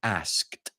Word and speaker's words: asked: to ask you to put on asked because you're just missing that t sound at the end again very very common